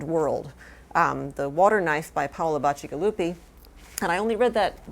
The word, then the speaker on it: Paolo Bacigalupi: me a long time to learn how to pronounce it, so I'm going to say it again, Paolo Bacigalupi.